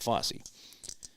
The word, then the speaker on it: Fosse: That's how you say it, Fosse.